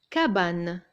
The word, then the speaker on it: cabane: Cabane. Il y a un A après le C et ça se prononce K, cabane.